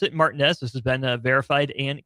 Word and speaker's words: Martinez: The young man does pronounce it Martinez.